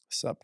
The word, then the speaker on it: SUP: I always say it wrong. SUP, dude. Yeah, like it's stand up. Yeah. But you know how you say it is soup. I say soup. And every time he corrects me and giggles and is like, yeah, you're saying it completely wrong.